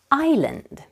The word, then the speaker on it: island: is Radu Radu land now you change your name with a pronoun I and pronounce it I land let's practice pronunciation island repeat after me I